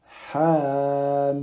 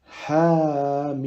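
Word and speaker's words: حم: Donc, on va dire Hamim. C'est compris? Le ha, on l'allonge de 2 temps avec le son A.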